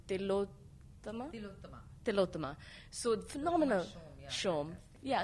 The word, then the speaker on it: Tilottama: I want to pronounce her name correctly, Tilottama? Tilottama.